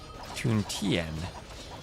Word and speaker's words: Tien: Tien. Rhymes with pen.